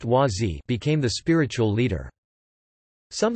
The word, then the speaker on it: Wah Z: Gross, spiritual name, Dap Ren, succeeded him until October 22, 1981, when Klemp, spiritual name, Wazi, pronounced Wazi, became the spiritual leader.